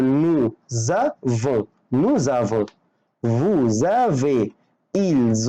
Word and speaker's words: nous avons: الحرف المتحرك هيخلي الاس تنطق زد، فانا بنطق زد بس مش بكتبها، يعني دي بتبان في النطق. يعني هقول نو زافون، نو زافون، vous avez، ils ont، elles ont.